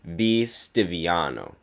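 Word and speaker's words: V. Stiviano: Donald Sterling making racist statements to his mistress V stano uh yes that's how you pronounce the name throwing the NBA into a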